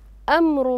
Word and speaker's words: أمر: هنا لاحظوا أمر الله، فكثيرا ما يحصل الخطأ في نطق الراء. أمر الله، نعم تفضلي، أحسنتي، مفخمة. لماذا؟ لماذا؟ نعم عليها ضم، عليها ضم واضح. أمر، ما أقول أمر، أمر الله هنا.